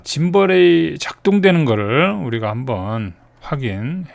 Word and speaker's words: gimbal: 중간중간 짐벌이 아니고 김벌이라고 읽고 있죠.